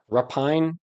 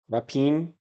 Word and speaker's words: rapine: Rapine, rapine, rap, or cat, okay. Pine. It's like it's sort of like it sounds like in or ein, pine in the UK. Rapine or rapine in British. British in English, but in the UK. The stress is on the first syllable.